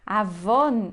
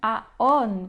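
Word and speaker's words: עָוֹן: E outra coisa nessa palavra que a gente sabe, eu sei que eu tenho que ler aqui avon e não aon.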